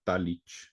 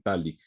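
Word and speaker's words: Talich: de Orquesta checos también a veces se le pronuncia tallid pero este es más bien tallik y esta grabación es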